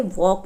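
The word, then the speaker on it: walk: है तो यहां पे वॉक में एल साइलेंट है स्ट्रेट स्ट्रेट में आप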